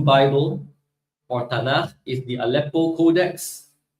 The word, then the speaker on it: Aleppo: So you got the Apello Codex, and then you got the medieval Torah scroll. How come the Apello Codex has the Nikud, the vowel markers, but the medieval Torah scroll doesn't? All right. Aleppo Codex.